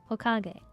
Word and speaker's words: Hokage: Emphasis on the ka, right? Hokage.